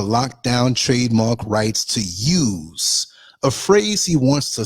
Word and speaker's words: YEWS: It's called I'm spelling it out, YEWS, which sounds like use, not like use guys, hey, use guys, No.